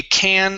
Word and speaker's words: can: This is a can of Coke. A can of Coke. A cane of Coke. Okay. So instead of cane, it's a ca can a can of co of cake of coke.